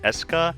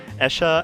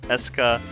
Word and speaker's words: Escha: and logi and yes even though if you look at the way it's spelled you would think oh isn't that spelled Asha and Loi but uh no they emphasize the hard sound so it's Esa and logi um they really should